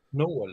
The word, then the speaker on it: nål: Nål. No. Stjärnål. That sounds terrible. Stjärnål. Yeah, it does. No. That's how you pronounce it then.